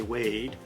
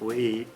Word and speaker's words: Wade: name so you know in American English we say wade but in Belfast they say something like weed weed weed and I can't